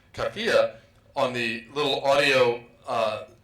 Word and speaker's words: kafiye: knew how to pronounce kafia, on the little audio uh site that I went to on on the web, they had an Egyptian woman pronouncing it kafaya.